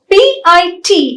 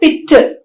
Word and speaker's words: pit: an error right so we should understand that p i t is pit not pitter p e n is pen not penne v bag is bag